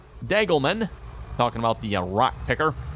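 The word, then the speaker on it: Degelman: Jacob was saying it's pronounced Dagelman.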